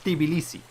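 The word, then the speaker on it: Tbilisi: the capital over here by the way it's pronounced tibilisi not the policy it's t that there's supposed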